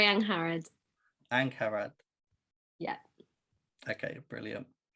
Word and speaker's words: Angharad: it for the last hour um it's larry young harrod and carrad yeah okay brilliant um so how